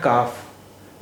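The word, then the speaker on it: كاف: अक्षर का नाम है काफ इसका उच्चारण हिंदी के क जैसा क क जैसा है तो अब आइए शब्द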